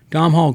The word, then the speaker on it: Domhnall: Does does Dom do Dom say his name Domh Hall Domh Hall Domhal Gleason not remind you in this movie in this character as a young James Spader in Lesn.